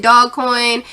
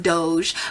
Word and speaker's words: Doge: just know somebody told you to invest in dog coin although it's pronounced doge but somebody told you to get in dog